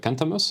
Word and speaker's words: Cantamus: I listened to, for example, the album Cantamus. Am I pronouncing that correctly?